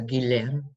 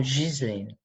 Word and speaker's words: Ghislaine: to me and say, in France, it's pronounced one way with a hard G without the S, so Guilaine. But in colonial French countries, it tends to be more Ghislaine or Ghislaine.